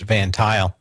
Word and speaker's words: Van Tuyl: A friend of mine went to work in the service bay of Van Tuyl, and it's spelled a little bit different, Tuyl, but pronounced Van Tuyl.